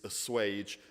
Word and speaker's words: assuage: But if you look at it and you think, God, how do I pronounce this word? It's assuage, and also there's reference to Zion, which is the kingdom of heaven.